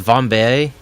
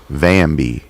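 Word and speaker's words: Vambee: So is that pronounced Vambe? Vambi. That's how it is pronounced? Like, they say it out loud? Yep. I haven't paid attention. I was thinking maybe it was like Vambe, like a flambe.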